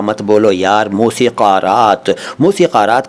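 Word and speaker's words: मौसीक़ारात: 'का' मत कहो यार, मौसिकरात।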